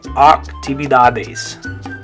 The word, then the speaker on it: actividades: So in that one, in English, it makes an A sound. The A makes an A sound, activities. But in Spanish, it's an A sound, actividades. Actividades.